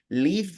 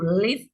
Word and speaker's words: leave: Leave at 11. We had to live at 11. Ok, ahora está bien pronunciado, pero le rompió la liga. No es leave at, es leave at. Leave at 11.